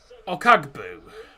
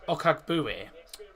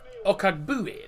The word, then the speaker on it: Okagbue: And number 26 is David Okagbu. Oh, Okagbue. I think that's how it's pronounced. Alright. Okagbue, there you go.